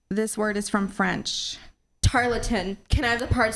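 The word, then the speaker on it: tarlatan: judges is I'm at 228 your word is tartin tartin may I have the definition please a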